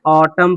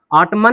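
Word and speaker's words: autumn: ऑटम पढ़ेंगे। क्या पढ़ेंगे? ऑटम। ऑटमन नहीं पढ़ेंगे, ऑटम पढ़ेंगे। एन हमारा साइलेंट हो गया।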